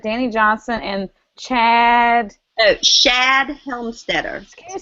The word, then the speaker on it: Shad Helmstetter: Oh, Shad Helmstetter. Can you spell that for me, please?